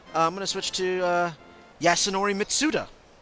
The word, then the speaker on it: Yasunori Mitsuda: I'm going to switch to Yasunori Mitsuda. Yasunori Mitsuda.